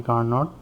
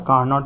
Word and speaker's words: Carnot: Carnot engine is an imaginary engine which is assumed by Nicholas Leonard in Sadi Carnot. It's not a Carnot, it's a Carnot. T is silent over there.